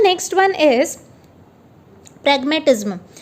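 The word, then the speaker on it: pragmatism: सो इसका प्रोनाउंसिएशन होगा प्रैग मोह टी और ZM.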